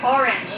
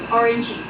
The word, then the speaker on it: orange: for example this word orange again because some students would pronounce this orangey right orangey but we don't pronounce this as orangey we're pronouncing that orange correct we pronounce it